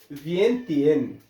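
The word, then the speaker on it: Vientiane: तो लाओस की जो राजधानी है वो है विएन टीएन। ये लिख लीजिए।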